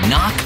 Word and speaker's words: knock: letter in kite and a silent k is also the first letter in knock over if you don't look